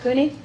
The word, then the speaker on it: CUNY: C-U-N-Y, how do you pronounce that? CUNY?